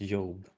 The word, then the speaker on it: Job: Yeah, I confirmed, by the way, it looks like it's supposed to be pronounced Job. Okay, so it's Job.